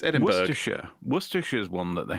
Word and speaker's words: Edinburgh: I mean, Edinburgh is not even spelled borough; it's spelled Berg. It's Edinburgh.